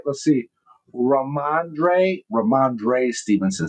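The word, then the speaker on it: Rhamondre: Uh uh Ramande Ram Stevenson. Did I say it right? Let's see. Raandre Raandre Stevenson says I knew I was pretty close.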